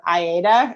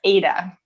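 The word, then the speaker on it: Aita: a podcast or something he's like that is not my name i'm like oh my gosh i've been saying it wrong for two years but it's ada okay yeah aydah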